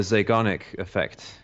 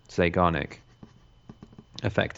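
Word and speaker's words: Zeigarnik: Actually, there's something called the uh the Zanic effect which is relevant as well. How do you spell that? Uh Z E I G A R N I K. Zic effect.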